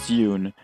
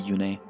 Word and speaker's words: Yune: It's Yoon, but for some reason Heroes pronounces it Yune.